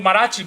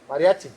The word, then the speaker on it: mariachi: They were all partying with Marachi, bro. Mariachi.